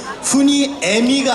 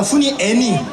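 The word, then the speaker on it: 훈이애니: 해도 되겠습니까네 고맙습니다네 이게 좀 발음의 오해가 있는데 훈이 애미가 아니라 훈이 애니 훈이랑 애니랑 이렇게 해 저희 팬클럽 이름인데 가입하신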